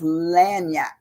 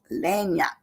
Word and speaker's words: lagniappe: today's word is lanap lanap and lanap is spelled now get this it's spelled l a g n i a p p lanap you wouldn't even believe it you would think it would just be l n y you know well Yap